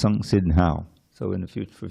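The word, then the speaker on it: संसिद्धौ: When you see a double letter, it means the first syllable is heavy. Instead of buddhi, it's buddhi. Instead of samsiddhau, it's samsiddhau.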